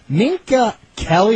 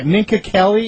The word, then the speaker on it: Minka Kelly: Uh not going to change the subject, but Ninka Kelly, is that a correct pronunciation of her name? Sorry, say again. Yeah, Minka Kelly. Is that Derek Jeter's dating right now? Oh, Minka Kelly.